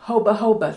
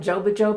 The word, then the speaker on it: jojoba: This is made of sesame, olive oil, and jojoba. Some people call it jojoba because it's spelled J-O-J-O-B-A, but this is what a part of that is.